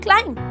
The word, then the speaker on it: climb: ऐसे ही अगर मैं बोलूँ क्लाइंब, तो बेसिकली स्पेलिंग क्या होता है? CLIMB। तो M के बाद B आया पर B के बाद आगे कुछ भी नहीं आया, इसीलिए B साइलेंट हो जाएगा।